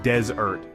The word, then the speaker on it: desert: dry Sandy place is pronounced with the emphasis on the first syllable desert but dessert that delicious